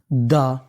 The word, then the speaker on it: the: आप इसे चाहे तो दा भी पढ़ सकते हैं और दी भी पढ़ सकते हैं, दोनों ही उच्चारण हमारे सही माने जाते हैं। चाहे आप द बोलिए चाहे दी बोलिए।